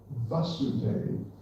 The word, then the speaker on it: Vasudeva: Vasudeva actually means the son of Vasudeva. Vasudeva with a long A means son of Vasudeva with a short A, which is a sort